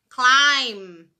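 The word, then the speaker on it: climb: sílaba então por exemplo a palavra escalar se escreve clemb com B mudo no final esse B Ignora ele não existe Você não vai falar bom então como é que você fala Klein pai nossa assistir mas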